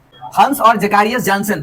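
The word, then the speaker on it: Zacharias: Hence, HANS, hence and जैकारियस, इसको हम लोग बोलते हैं जैकारियस, ZACH।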